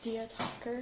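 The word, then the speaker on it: Diya Thakur: Dia talker. Do you want me to spell that?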